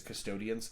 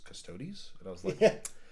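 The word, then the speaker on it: Custodes: I love it yeah cuz I was like the custodians and you're like actually I heard it pronounced it was custodies well played do as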